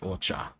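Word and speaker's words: お茶: but you'll always hear it pronounced ocha.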